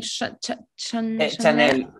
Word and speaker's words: Chanel: No, that she, how to pronounce her name? Chanel.